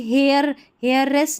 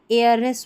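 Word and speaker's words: hairless: जैसे इसको हावर नहीं आवर पढ़ेंगे, अब इसको हावरली नहीं आवरली पढ़ेंगे, इसको हेयर नहीं एयर पढ़ेंगे, अब इसको भी हेयरलेस नहीं एयरलेस पढ़ेंगे।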